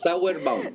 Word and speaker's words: Sauerbaum: y le doy la más cordial bienvenida al diputado de Renovación Nacional, Frank Sauerbaum. ¿Está bien cómo he pronunciado su nombre? Es Sauerbaum.